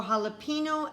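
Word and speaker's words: jalapeño: and j is for jalapeno and jicama usually j makes the j sound but in these words the j makes like an h k is for kumquat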